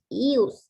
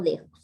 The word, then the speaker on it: ius: Es Ius Imperium, no Dejus, ¿sí? ¿Alguien ha escuchado esta palabra? Tomar aquí dijo Ius, no es de Dejus, sino Ius, pues se escribe Dejus.